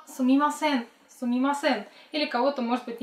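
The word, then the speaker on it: すみません: Наша вторая фраза звучит как «сумимасен».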